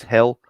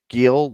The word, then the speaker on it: Gil: And how are we going to pronounce this guy's name? Luis Hill? Is that how we do it? It's Gil. Luis Gil.